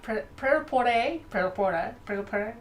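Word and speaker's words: Prêt-à-Porter: Pretoporte.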